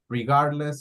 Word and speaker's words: regardless: To pronounce the word correctly, do not pronounce the D. Regardless. Regardless. Regardless. So just omit it.